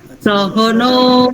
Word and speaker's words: সহ: বলছি সহনাভবত সহন আপনার কিন্তু উচ্চারণ মানে অকারটাকে ওকার বলার একটা প্রবণতা আছে উচ্চারণ মানে অকারটা পুরো ক্লিয়ার হতে হবে ওকারের মত না সাহা সহা সহ ওম সহ